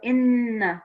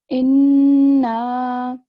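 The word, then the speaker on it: إِنَّا: So noon, which shadda would be a nasal sound. So what do we mean by nasal sound? How would you pronounce it? Inna. Excellent. So you keep the noon sound in for a bit longer than usual.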